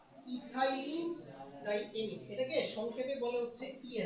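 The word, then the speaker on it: ethylenediamine: এটা হচ্ছে ইথাইলিন ডাই এমিন। কি উচ্চারণটা? ইথাইলিন ডাই এমিন।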